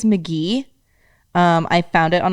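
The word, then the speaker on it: Mk.gee: by i think it's mcgee um i found it on a playlist on a playlist last night uh yeah you mcgee but it's it so it's pronounced mcgee but it's spelled m-k-dot g-e-e weird he's a producer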